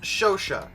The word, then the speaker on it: Chauchat: The ʃoʃa, which I have looked up the pronunciation of because it's French again, and that always terrifies me. But apparently that's pronounced ʃoʃa, which is good that I checked because I